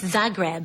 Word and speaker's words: Zagreb: ganzel recently returned from did I pronounce it right Zagreb yes Zagreb Zagreb Yugoslav Yugoslavia have you had the bin